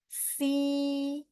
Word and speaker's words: xi: Kalau X I bacanya si. Nah, kalau XI bacanya si.